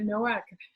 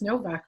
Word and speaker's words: Nowak: I'm Iris Benrubi, your host, and today I'm really excited to have Anita Nowak, and it's actually pronounced Novak, right?